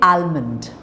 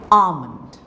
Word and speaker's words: almond: in Armond so you don't say almond you say alond calm folk okay Autumn